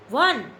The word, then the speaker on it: one: One. Spelling is starting with vowel sound word, but pronunciation is like a consonant, that's why we are using a.